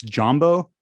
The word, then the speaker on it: Dzambo: Another guy, and I named a song after him, is it's Jumbo, but it's spelled Dzambo.